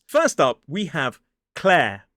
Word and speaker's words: Clare: And then following it is that air diphthong, like the air that we breathe. Do not pronounce the R as an isolated word. Claire.